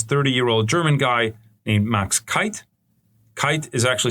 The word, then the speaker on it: Keith: German guy named Max Kite. Kite is actually spelled like Keith in English, but the German way you pronounce it is Max Kite.